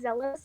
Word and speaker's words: Zelos: Um, and then we finally get their names, Elizabeth and, is it pronounced Zelos or Zealous? Because I always just say Zealous. it's Zealous.